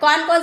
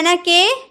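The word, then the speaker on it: knock: के साइलेंट रहता है अगर एन से पहले के रहे क्या मैंने बोला एन से पहले के रहे तो के साइलेंट रहता है जैसे नाइफ एंड से पहले है ना के एंड से पहले है के इसीलिए नोक यानी की खटखटाना khatkhatata है ना दरवाजा तो हम क्या कनक बोलते हैं साइलेंट है इसलिए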